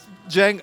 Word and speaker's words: Cenk: यहाँ सी को जे बोला जाता है और सी के नीचे एक शोशा सा लगा होता है जिसका मतलब है कि वो जे है।